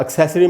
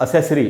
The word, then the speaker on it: accessory: Pattern same ही है, और एक्सेसरी में सै पर, ए पर स्ट्रेस है, तो उधर ही रुकेंगे ज़्यादा। एक्सेसरी, एक्सेसरी, स के बाद आधा अ है, यानी स पर ज़रा सा रुकना है। एक्सेसरी, ऐसे करके इसको पढ़ेंगे। इसका अच्छा दोस्तों, इसको कई बार मैंने सुना है लोग बोल देते हैं असेसरी। असेसरी नहीं होगा, एक्सेसरी।